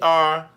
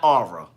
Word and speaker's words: R: jene Nikki j e r l n e Slaughter and for the people in the DMV the letter is R not ARA okay stop putting all them extra syllables on the letter R Shantel the important meeting